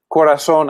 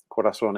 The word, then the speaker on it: Korason: And Korason actually is a made-up word, but it's a homonym, meaning it sounds the same as the Spanish word for heart, corazón.